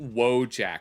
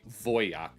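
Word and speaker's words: Wojak: I wanted to check out this bad art history video by Frankie Fay about well it's we pronounce it wojack but it's technically voyak because it's a a Polish word that means soldier I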